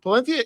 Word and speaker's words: Palencia: 'Cause he's Palencia really- is from Spain. Yeah, and from that Palenthia- area of the world. Palenthia is the correct way to say it.